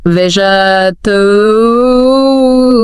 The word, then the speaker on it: vegetable: Words like vegetable. Oh, yeah. How should that sound? Well, in English, it's generally more like vegetable, kind of squashed together. Right, not every syllable super clear.